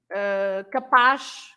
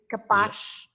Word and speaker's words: capaz: or capaz, capable of something, capaz, etc. But of course, you pronounce the Z as a normal Z if